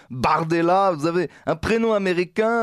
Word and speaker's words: Bardella: leur donne Mordella alors Jordan Bardel parce qu'au prononce à la française n'est-ce pas Jordan Bardella vous avez un prénom